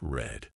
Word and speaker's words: read: is pronounced like read read in the present is pronounced like read but in the past it it's red but in the past it's red mind blown and why